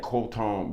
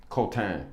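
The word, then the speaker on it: Quentin: I'm not mad that um that uh that I'm not mad at Colton Bish. Kotan, excuse me. That's the way people pronounce his name in France. So his mother would call him Kotan.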